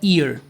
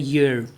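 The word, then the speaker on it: year: इसको वैसे तो मोस्ट ऑफ दी स्टूडेंट्स कैसे प्रोनाउंस करते हैं वो है ईयर। ई से स्टार्ट करते हैं इ। ई फॉर इमली। ठीक है जी? लेकिन इसका जो एग्जैक्ट प्रोनाउंसिएशन है वो होता है ईयर। क्या होता है? ईयर। तो अगेन यह किससे स्टार्ट होता है? य से।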